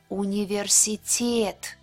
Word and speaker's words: университет: Университет. ТЕТ is a stressed syllable. The stress mark is on top of the vowel Е.